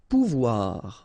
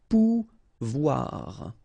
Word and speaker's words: pouvoir: okay, and when you combine this O and I here, you get the sound OUA, okay, so pouvoir, pouvoir.